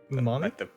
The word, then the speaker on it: Umami: Yeah, Umami. Like the taste.